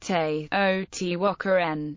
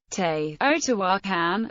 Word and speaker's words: Teotihuacan: The name is pronounced Teotihuacan in Nahuatl, with the accent on the syllable wa.